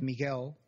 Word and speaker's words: Miguel: Latin language you have Miguel which has a g on it so yeah which in America sometimes people say Miguel because there was a u but that U is silent really oh yeah instead